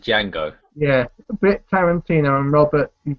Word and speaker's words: Django: I'm saying that right ajango yeah Django yeah not Django it's just Jango yeah bit Tarantino and